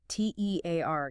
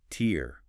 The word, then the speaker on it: tear: versus tear rhyming with hair or bear. That's the verb meaning to rip something like paper.